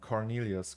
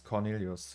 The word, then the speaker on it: Cornelius: videos and pictures uh how my name is pronounced cornelius cornelius like that it's like the movie fight club uh yes the bomb